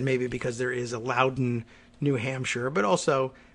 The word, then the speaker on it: Loudoun: Like I said, maybe because there is a Loudoun, New Hampshire, but also, nothing about the pronunciation of Loudoun makes you believe that there's another U in there, Loudon, but there is. Some facts about Loudoun County.